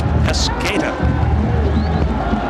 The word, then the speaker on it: Pesqueda: It's not spelled the same way it's pronounced. It's Pesqueda. So I wrote it phonetically on my chart, just to let you know, because we couldn't do it the way it's spelled.